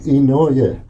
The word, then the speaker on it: Ino: Ino. Oh, okay. Okay. Ino. It sounds American Indian, too. Sometime, but it's Japanese.